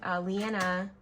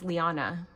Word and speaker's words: Liana: Hi guys, so I was watching Leanna. Am I saying it wrong again? It's Liana from It's a Deal, and